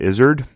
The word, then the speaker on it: Izard: by the late carol izzard if you want to look up more about him his name is spelled with two r's and two l's c-a-r-r-o-l-l izzard like a lizard but without the l uh he studied emotions